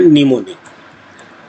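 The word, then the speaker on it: mnemonic: हम अपने assembly language में बोलते हैं निमोनिक और इसकी स्पेलिंग होती है न्यूमोनिक।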